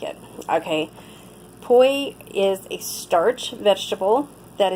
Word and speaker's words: poi: Poi, in case you're wondering, is spelled P-O-I.